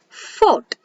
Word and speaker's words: fought: So we'll pronounce it as thought. One more example, fought.